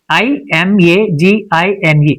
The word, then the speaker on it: imagine: For instance I m a g i n e. Imagine in this word e is present but it's not pronounced.